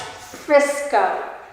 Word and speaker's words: Frisco: It's pronounced Frisco, and it's one of the fastest growing cities in America.